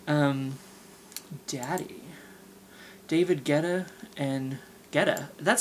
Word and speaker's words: Guetta: Becky Hill and Ella, um, David Guiatata. Like, I don't know, no, Guetta. He's kind of like a, techno dance house guy, I guess you would say. Um, Daddy. David Guetta.